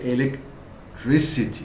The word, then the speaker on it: electricity: So this K sound becomes S sound. So you say electricity, right?